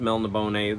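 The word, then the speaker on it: Melniboné: Because of Larry's Library, he reviewed an Elric of, I think that's pronounced Melnibone. That's how I say it.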